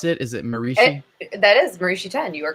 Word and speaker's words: Marishi Ten: is that how you pronounce it is it that is marishi 10 you are correct okay good good you know